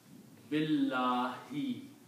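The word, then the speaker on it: بالله: If it is a dharma, it will change into a kasra. So the pronunciation will become bilah.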